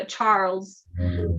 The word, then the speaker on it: Charles: it's just stars uh charles it's just you don't pronounce the uh the e so yeah okay awesome